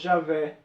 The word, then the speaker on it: Javé: E falou para os judeus que esse Deus, que em português pronunciamos Javé, queria libertar aquele povo da escravidão.